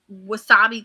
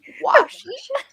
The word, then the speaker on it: washi: Although I did recognize, and maybe Nicole has a post-it note or wasabi tape note.